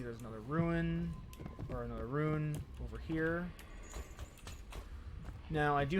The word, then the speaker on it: rune: And there's a ruin over yonder, so I'm going to go over there. I'm sorry, a rune. I still, through all these years of seeing the word, always pronounce rune like ruin.